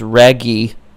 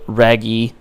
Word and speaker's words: Raguy: is also known as Raguy. I think it's how it's pronounced, R-A-G-U-Y, and this was created by Alpha Denshi in 1990 for the NEO GEO cabinet.